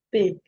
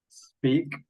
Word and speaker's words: speak: You have to start the pronunciation with an S, not with an E.